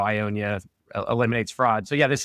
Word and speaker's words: Ionia: was particularly inspired by so Ionia uh you said it right by the way most people take a couple stabs to get it you got it right the first time so Ionia is a region that